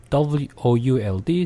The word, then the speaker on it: would: 다음에 would, could, should가 있는데 W-O-U-L-D, C-O-U-L-D, S-H-O-U-L-D 다. 이 발음들이 O-U, O-U가 있는데 이 발음들도 다 우 발음이 아니라 약한 으 발음입니다.